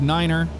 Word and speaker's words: niner: is phonetically correct uh instead of five you'd say five instead of three you'd say tree nine is Niner uh four is fow